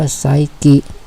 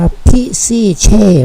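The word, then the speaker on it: psyche: P hy C H คำ นี้ อ่าน ว่า ไซกิ ไม่ รู้ มัน อ่าน ว่า ไซกิ ได้ ยัง ไง มัน อ่าน มัน น่า จะ อ่าน ว่า พิซ เช มัน น่า จะ อ่าน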